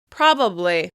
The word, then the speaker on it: probably: I notice that I tend to pronounce it as 3 syllables, but some people will rush right through that word and they'll just say probably. Probably. They'll drop that middle syllable.